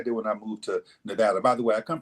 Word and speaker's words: Nevada: when I moved to Nevada by the way I come from a state where pronunciation matters it's Nevada not Nevada talk Nevada you might